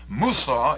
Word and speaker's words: Musa: Musa is the Arabic pronunciation of Moses.